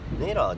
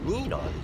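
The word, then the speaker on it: ニーラー: じだと、同じ発音、ネイラーじゃなくてニーラーですよ、多分ニ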